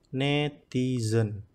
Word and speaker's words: netizen: Kalau kita mencari di kamus KBBI online, netizen menggunakan taling dan pepet, jadi bacanya netizen atau warganet, warga aktif, orang yang aktif menggunakan internet.